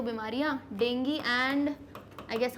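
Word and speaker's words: dengue: अच्छा, इसका प्रोनाउंसिएशन मैं इतनी देर से डेंगी बोल रही हूँ क्योंकि इसे प्रोनाउंस हम डेंगी करते हैं, कुछ लोग डेंगू करते हैं, अब वो ठीक है, मैंने डेंगी पढ़ा है।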